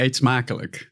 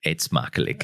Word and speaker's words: Eet smakelijk: Eet smakelijk. Eet smakelijk. Eet smakelijk.